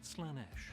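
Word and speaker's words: Slaanesh: many names that'slanish isn't one of them it's pronounced slanesh sticking in the realm of chaos the name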